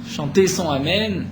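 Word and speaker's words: אמן: On ne répond pas ni à Amen Khatoufa. Amen Khatoufa, nous dit Rashi, c'est un Amen Khatouf qui est attrapé. C'est-à-dire, on va le happer, on ne va pas prononcer le Aleph correctement.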